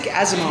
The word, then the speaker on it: Asimov: Is it Asimov? Asimov? Isaac Asimov.